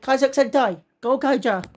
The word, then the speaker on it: Kaizoku Sentai Gokaiger: As they pronounce it, Kaizoku Sentai Gokaiger.